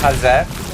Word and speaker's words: Haze: It's pronounced Haz.